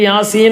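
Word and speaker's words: يس: അവിടെ പ്രത്യേകം നീട്ടേണ്ട സ്ഥലമാണ് അതിൽ പെട്ടതാണ് എന്ത് നമ്മൾ യാസീൻ യാസീൻ അവിടെ മദ് നാസിമാണ് യാ എന്നുള്ള യാ എന്നുള്ളത്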